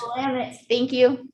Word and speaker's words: Willamette: On June 23rd in Portland, inside a labyrinthine government building across the Willamette River from Willamette. Willamette.